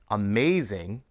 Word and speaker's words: amazing: In amazing, the second syllable is stressed. Amazing.